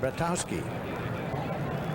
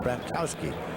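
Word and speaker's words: Bratkowski: Bratowski played his college football at Georgia where they called it Battowski. I went in to broadcast a football game there one time and asked about the pronunciation. They said silent K Bowski.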